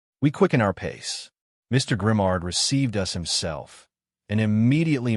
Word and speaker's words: Grimard: Mr. Grimard, pronounced Grimard, A little old man with a sad and kindly look insinuated, "Pardon, Monsieur Mayor, but what should I do?"